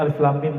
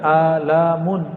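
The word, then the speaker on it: الم: masih bahasa bumi sedangkan alif.lam.mim bahasa langit semua orang Arab bingung Ayo kita Alhamdulillah diizinkan Allah Subhanahu ta'ala mendapatkan ayat-ayat seperti ini dan dibacanya bukan alamun alamun artinya penyakit sakit di kolom Alif itu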